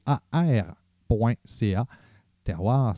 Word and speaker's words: TERWAR: w ar point ca terroir ça se prononce ce ca prononce en fait comme ça c'est la terminologie qu'on